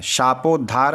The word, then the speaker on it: शापोद्धार: प्रीतर्थम इसके बाद देखिए अब यहां पे है शापोधार पुरसम यह तो आपको बोलना ही है शापोद्धार पुरशरम देखिए क्योंकि बहुत से पहले समय था ना कि सबको श्रापित कर दिया गया था।